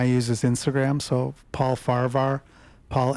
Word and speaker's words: Farahvar: I'm like the H is quiet. It's just Farvvar.